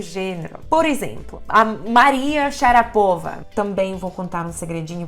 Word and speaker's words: Sharapova: por exemplo a Maria Sharapova também vou contar um segredinho para vocês que a pronúncia certa É xará para lá mas enfim Maria Sharapova o